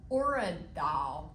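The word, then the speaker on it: urad dal: And in these containers is a kind of a it's a lentil called orid doll. And I'll spell it because not everybody has heard of it.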